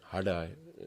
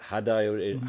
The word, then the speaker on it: Hardai: I say Hardai. It's in the roof of the mouth. Yeah. It's written D, but there's a dot underneath. Oh, okay. So it's not Hadai.